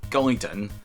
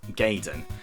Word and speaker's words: Gaiden: So, first up, we have Ninja Gaiden, released by Tecmo on the NES in 1988. And just to clarify something, that is Gaiden, not Gaiden.